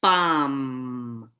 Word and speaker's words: bomb: Bomb, bomb. The B, that final B, is silent.